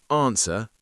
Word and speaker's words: answer: I don't pronounce the W and I don't pronounce the R in my modern RP accent. I don't normally pronounce the letter R unless it's followed by a vowel sound. So technically the letter R is silent here too.